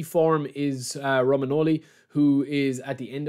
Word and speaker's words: Romagnoli: You've got Savage, you've got Immobile, you've got Luis Alberto, and you've got Romanelli. Romagnoli, I'll get killed for pronouncing him wrong, Romagnoli.